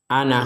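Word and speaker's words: أَنَا: Jadi kalau waqaf itu dibaca ana, bukan dibaca an, jadi dibaca ana.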